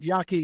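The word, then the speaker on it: Yaqui: know conversations with a wacky a Yaky Indian I should say wacky Indian but y Yaki Indian no no no disrespect to first nation people that was a mispronunciation but Yaki Indian uh D Juan's way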